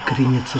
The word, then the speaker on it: Креница: Креница. Правильное ударение. Креница.